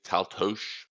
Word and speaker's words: Taltos: And for what it's worth, we've been pronouncing Taltos wrong. Steven Brust would say it's Taltos because it's Hungarian.